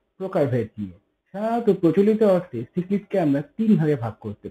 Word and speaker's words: cichlid: কেউ কেউ একে বলে সিচিলিড, কেউ কেউ বলে এটা চিকলিড, কিন্তু অ্যাকচুয়াল উচ্চারণ বা প্রোনাউন্সিয়েশন হলো সিকলিড, সিকলিড।